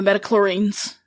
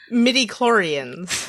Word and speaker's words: midi-chlorians: true made from the meta chlorines I know I said that we're on wait did I say it wrong again midi-chlorians did okay the green but that's